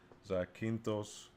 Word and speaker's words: Zakynthos: And I believe the way you pronounce it is Zakynthos, which is one of the Ionian islands in Greece.